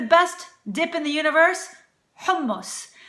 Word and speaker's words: hummus: in the universe humus for some reason people really Massacre this one and they say hummus hummus sounds kind of sad doesn't it like I'd like some hummus humus no it's not humus and it's not humus either